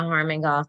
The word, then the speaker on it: Harmon-Goff: Shayna Harmon, is it Harmon-Goff? I hope I'm saying that correct. You said it right. Thank you so much. Shayna, right. Stephen. No worry about Yes, yes, you said it right. It's Shauna Harmon-Goff.